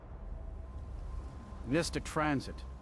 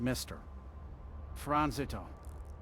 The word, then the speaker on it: Mystic Transit: Mystic Transit, not Mr. Transito. It's a reference to the magical nature of the transportation service.